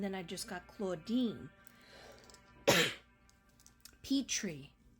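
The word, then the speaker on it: Pitre: got claudina and then I just got Claudine pet tree p i t r e it's pronounced pet tree and that's because um somebody that knows her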